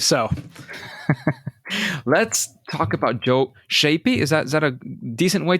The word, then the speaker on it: Schaeppi: Let's talk about Joe Schaeppi. Is that a decent way to pronounce it? That works. Schaeppi.